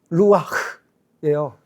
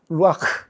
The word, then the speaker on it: 루아흐: 영이라는 이 단어, 뭐라고 히브리어로 발음하냐면 루하흐. 그러니까 발음 자체가 어때요? 바람을 이렇게 내뱉는 것 같잖아요. 그렇죠? 루아흐예요. 루아흐. 그러니까 바람 소리예요. 바람 소리.